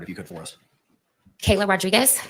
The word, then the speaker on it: Kayla: doesn't mean you really state your name and spell it for the record if you could for us Kayla Kayla k a y l a Rodriguez r o